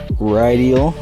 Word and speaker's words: Rideal: here we are on the right eel that's how you pronounce it and we have a